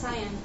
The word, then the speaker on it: cyan: that up it's pronounced cyan it's not like cayenne pepper so if we shine